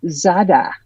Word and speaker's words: Zara: It's pronounced Zada.